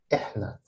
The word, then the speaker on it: إحنا: This is how to pronounce them. It's أنا, أنت, أنتي, أنتو, هو, هي, هم. And the last one is إحنا.